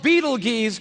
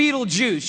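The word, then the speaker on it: Betelgeuse: heard about this star it's called Beetle Gees or be Beetle Juice you can pick your pronunciation I'm obviously going with Beetle Juice and Beetle Juice is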